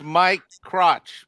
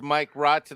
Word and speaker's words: Mike Rotch: It's Mike Crotch, but it's Mike Rotch.